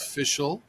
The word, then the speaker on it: Fishel: And today, our guest is Fishel. Am I pronouncing that right?